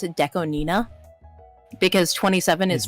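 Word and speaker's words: DECO*27: year apparently Deco 27 you're actually supposed to pronounce it Deco Nina because 27 is pronounced is is n right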